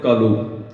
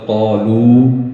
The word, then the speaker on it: قالو: جس طرح بہت سارے لوگ پڑھتے ہیں کالو, ٹھیک ہے, بیسیکلی ورڈز ہے معذاللہ اتنا غلط ہم پڑھ رہے ہوتے ہیں, لفظ ہوتا ہے قالو لیکن ہم پڑھتے ہیں کالو.